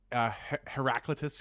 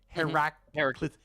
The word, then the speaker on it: Heraclitus: There's a Heraclitus quote. Heraclitus. Yeah. Well, Heraclitus is the English way to pronounce it, right?